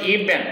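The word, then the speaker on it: even: country তার নিজের দেশের জন্য ইভেন আমেরিকার প্রশ্ন ইভেন একটু ভয়ের মানে এটা ভি ডিরেক্টলি না হয়ে ভ আর ব এর মাঝখানে উচ্চারণ হয় ইভেন ফর হিজ ল্যাঙ্গুয়েজ এমনকি তার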